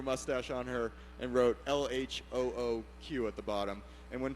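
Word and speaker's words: L.H.O.O.Q.: there you go and when pronounced phonetically that means she's got a hot ass right and I a nice ass um so this is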